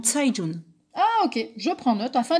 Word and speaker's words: Cai Jun: plutôt de kayes john figure toi que le ces se prononce ce en chinois dont saïd jaune ok je prends note